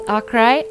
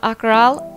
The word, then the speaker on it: Akrai: Sup nerds, this is Akrai, not Akral, Akrel, or however you think you'd like to pronounce it.